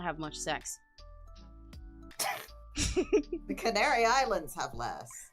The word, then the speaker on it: CEX: Sex.